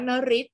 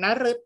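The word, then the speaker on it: นฤตย์: คำ นี้ นะ คะ คำ นี้ เรา จะ ต้อง อ่าน ว่า นริศ นะ คะ นริศ นะ คะ หมาย ถึง การ ระบำ อัน นี้ เป็น คำ เฉพาะ นะ คะ เรา ไม่ อ่าน นะ รึ นะ เรา อ่าน ว่า นริศ นะ คะ เป็น คำ ยก เว้น นะ คำ นี้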